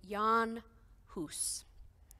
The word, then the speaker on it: Jan Hus: inspired by a 15th century catholic priest named john huss it's spelled j-a-n-jan h-u-s house he was born in 1370.